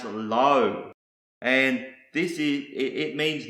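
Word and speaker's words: לא: with the letter Lama the first word is pronounce low and this is it means no and not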